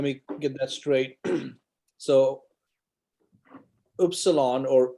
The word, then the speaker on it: Upsilon: get that straight so Upsilon or U is always pronounced who in Greek it's never an issue it's always going to be ooh um so if you